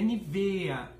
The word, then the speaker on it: Nivea: A pronúncia correta da marca em alemão é Nivea, que vem com acento circunflexo no E final.